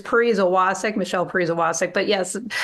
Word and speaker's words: Pariza Wacek: So if you search for me for Michelle PW, you'll find it, but it's Pariza Wacek, Michelle Pariza Wacek. But yes, spelling it and pronouncing it is difficult.